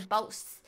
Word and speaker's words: Bose: I don't even know if I'm pronouncing it right, but Is that Boss? Boss? Oh, it said Boss. Yeah. Boss. Boss, Sorry, Bose, I'm a Bose.